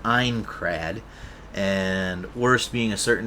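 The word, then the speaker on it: Aincrad: the villain of the Ankrred arc having a dumbass reply to why he trapped them in Sword Art Online. Also, Ankrred is pronounced Einrred and worst being a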